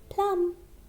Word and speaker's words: plumb: Similarly, here this B is silent. We can't say plumb. Okay, this is wrong. We have to speak plum.